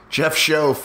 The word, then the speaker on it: Schoaf: Jeff Schoaf, rhymes with loaf.